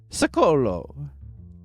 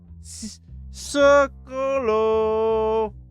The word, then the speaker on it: Piccolo: Piccolo I always called it Selco when I was younger. I don't know why. I'm Italian and I still mispronounced it. It's Piccolo. Piccolo.